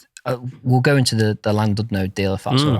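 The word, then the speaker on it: Llandudno: a local well well if you were a Welshman and you'd say Clan did no okay okay not land did no l Clan can you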